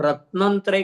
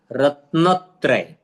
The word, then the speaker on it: रत्नत्रय: रत्न पर, न पर जोर दिया तो त्रय आपको उच्चारण करने में आसान रहेगा। रत्नत्रय, इसका उच्चारण करते समय अगर हम रत्नत्रय करेंगे तो न आधा बीच में लगा, उसका अर्थ होता है नहीं।